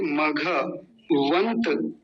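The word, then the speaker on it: मघवन्त: देखि न भी आधा त भी आधा तो मघ क्षमा कीजिए मघ वंत मघ वंत और सूर्यसन है आगे का सूर्यसन जगह तोड़ा मघ वंत वंत वंत वंत ऐसे ही रखेंगे क्योंकि त आधा है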